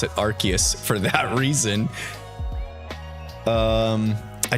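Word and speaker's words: Arceus: the OD bro says they changed the official pronunciation from arus to archus because r is how the British say ass the OD bro is that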